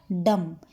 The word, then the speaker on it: dumb: अब मैंने क्या बोला, डम, यहाँ पर बी साइलेंट हो जाता है।